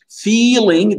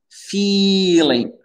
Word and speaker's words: feeling: Feeling, Dounia, bien allonger le i. Hein. Feeling, feel. Donc cette erreur-là, i court, i long, faut bien la distinguer.